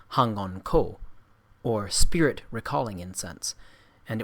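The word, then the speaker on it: 反魂香: It was called Fuan Huan Xiang, by Japanese pronunciation Hangon Ko, or spirit recalling incense, and it was made in Tsochao, or the district of the ancestors, situated by the Eastern Sea.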